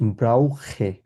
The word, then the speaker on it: brauche: ইস ব্রাউখে, খ উচ্চারণ করবো আমরা, ইস ব্রাউখে, ব্রাউখে মানে হচ্ছে নিড, কোনো কিছু প্রয়োজন আমার Ich একটা।